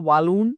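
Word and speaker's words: Walloon: हैं बेसिकली माफ कीजिएगा बलून का जो हमारा प्रोनंसिएशन होगा वी A double L double O एन होगा तो वालून या फिर बलून आप इस तरीके से प्रोनाउंस कर सकते हैं तो 40 पर का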